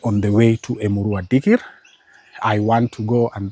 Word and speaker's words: Dikirr: as we speak, is we have the Emurua Dikir. Yeah, I know. You know, I think it was d i k i r r Dikir, but how it's pronounced is Dikir.